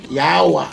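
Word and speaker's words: yaowa: If you were to spell it, it would be Y-A-O-W-A. Like, yawa. Like, yaming? Yawa. Yawa.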